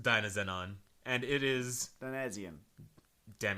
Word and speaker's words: Dynazenon: You said you don't pronounce the S's in the title, You don't right? actually pronounce the S's, apparently. All right, it's like a holic. So you would think that it's Dynazenon, but it's actually just Dynazenon.